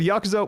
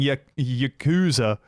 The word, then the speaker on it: Yakuza: Performance throughout the production pronounced the word Yakuza with vocal emphasis placed exclusively on the second syllable.